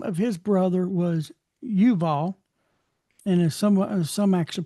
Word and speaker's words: Yuval: 21, the name of his brother was Yuval, and as some actually pronounce that as Juval.